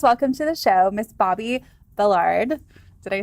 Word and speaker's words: Bobbi Billard: Please welcome to the show, Miss Bobbi Billard.